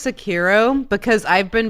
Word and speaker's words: Sekiro: metaphor so this is from software's new game secure Oh shadows die twice it is not technically air